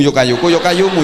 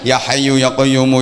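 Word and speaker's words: يا حي يا قيوم: Harusnya ya hayyu ya qayyum, ya hayyu ya qayyum, dibaca yo kayuku yo kayumu, yo kayuku yo kayumu, yo kayuku yo kayumu. Harusnya kan ya hayyu ya qayyumu, ya hayyu ya qayyumu, ya hayyu ya qayyumu, ya hayyu ya qayyumu.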